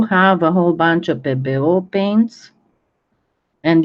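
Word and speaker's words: Pébéo: I do have a whole bunch of PBO paints. And yes, it is pronounced PBO, not PBO, because it's a French name and it's got the accented E's.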